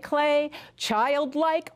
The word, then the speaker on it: Klee: ♪ ♪ Su nombre se escribe Klee pero decimos Klay ♪ ♪ Arte infantil